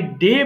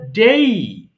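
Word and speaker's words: day: প্রথম বিষয় হচ্ছে আমরা যেটাকে ডে বলি সেটা আসলে ডে নয়। সেটা হবে ডেই।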